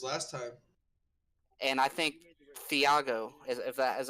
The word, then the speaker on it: Thiago: and I think Thiago is that how you say it? Benedetti. Tiago.